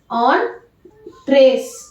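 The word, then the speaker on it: entrées: இது ENTREES இருந்தாலுமே இதை வந்து ஆன் ட்ரேஸ் அப்படின்னா நம்ம ப்ரொனவுன்ஸ் பண்ணுவோம்.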